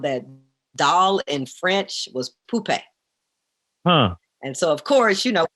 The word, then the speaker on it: Poupée: My nickname is Poopy. Poopy? Poopy. Right. I need to know the story behind that name. Okay, so my mama. So it's pronounced Poupée, Poupee, and it's French for doll.